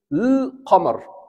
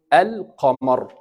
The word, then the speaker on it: القمر: And that's why we brought this alif to make it easy to pronounce it. And now it is al-qamar.